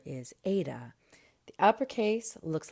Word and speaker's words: eta: But this is actually a vowel, and it is pronounced like the A in wait.